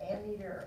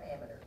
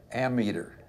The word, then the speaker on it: ammeter: meter do you think would measure amperage an ammeter how about that do you pronounce that ammeter amateur yes okay ammeter ammeter not meter meterize kilometers you would pronounce kilometers